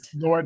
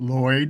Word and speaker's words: Lloyd: Lloyd like Floyd. But Lloyd.